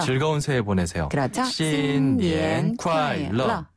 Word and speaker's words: 新年快乐: 러는 약간 좀 혀를 띄우나요? 혀를 튕기면서 내는 발음이에요. 러. 러. 네. 러. 러. 네, 러. 즐거운 새해 보내세요. 그렇죠. 신년 콰일러.